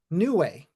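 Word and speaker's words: Niue: and uh real quick Edward n IU e can you please pronounce that for everyone yeah it's new way nice very popular country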